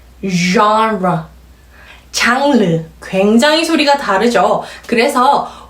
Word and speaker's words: genre: 이 단어는 불어에서 가지고 온 단어이기 때문에 영어 발음에서도 굉장히 특이한 소리로 들리는 발음입니다. 원어민 소리 한번 들어볼까요? genre, 잘 들리셨나요?